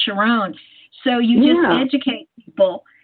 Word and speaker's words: Sharón: Well, I will also, like my name looks like Sharon on paper, but it's pronounced Sharon.